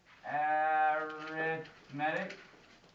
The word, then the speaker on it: arithmetic: sorry my bad arithmetic arithmetic you might think that looks like it says arithmetic it's spelled the same way this is a adjective used as an adjective instead of a noun arithmetic think adding arithmetic